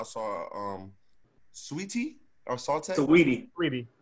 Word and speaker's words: Saweetie: heard anybody say it so you can't read it's spelt saute oh it's sweetie s-a-w s-a-w s-a-w-e-e-t-i-n it's spelled so we t